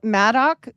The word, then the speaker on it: Madoc: So Madoc was like, here they either spell it Mad Dog, but it's like sounds like